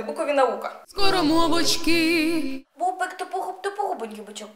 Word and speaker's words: тупогубенький: Бубик тупогуб, тупогубенький бичок. У бика була тупа губа. У слові тупогубенький наголос на у.